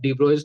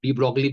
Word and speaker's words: de Broglie: Two things were incorporated because of de Broglie's theory, जिसको हम लोग de Broglie बोल देते हैं because we write that, but pronunciation is de Broglie.